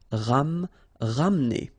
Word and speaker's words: ramener: Ramener. Okay, don't insist here on the E. Ramener.